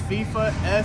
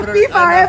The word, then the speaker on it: Feefa: Now it's Feefa, Feefa. I was just gonna say that. Spell it out. Yeah, it's Feefa. Luego te van a buscar en la FIFA. FIFA. No, me van a confundir. No, it's Feefa.